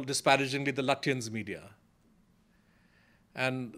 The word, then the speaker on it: Lutyens: they call disparagingly the Lutyens media. And they will mispronounce Lutyens as Lutyens and make a very poor pun to say that these are all looters.